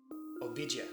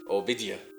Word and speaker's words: Obadiah: survey of the book of obadia and it's pronounced obida obida yeah but I still want to say